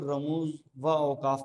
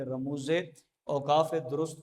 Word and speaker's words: رموز اوقاف: یہ رموز اوقاف کا، بعض اوقات لوگ رموز اوقاف کو رموز و اوقاف پڑھتے ہیں، بیچ میں یہ مرکب عطفی بنا دیتے ہیں، ایسا نہیں، رموز اوقاف درست، اس کا تلفظ یہ